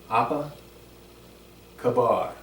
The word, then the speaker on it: apa kabar: Remember, A's are always a. Apa kabar.